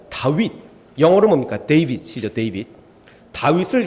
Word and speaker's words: 다윗: 다윗을 히브리어로 이렇게 씁니다. 다윗이라고 그래요. 다윗. 그러니까 데이빗이라는 것과 전혀 다르고 다윗이 거의 비슷한 발음이 다윗이라고 읽는데, 이쪽에 해당하는 게 4, 가운데 철자가 6, 또 4, 4, 6, 4 이렇게 됩니다.